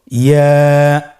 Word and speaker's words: ইয়া: ইয়া হরফটি উচ্চারণের ক্ষেত্রে বারিক হবে এবং এক আলিফ টেনে পড়তে হবে। ইয়া। আবার বলুন ইয়া।